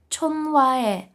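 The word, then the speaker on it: 전화: таке слово Чон хвах Чон хва хе вимовляти ми будемо Як чонвае чонвае бачите ми аж два рази проігнорували літеру х а все чому Тому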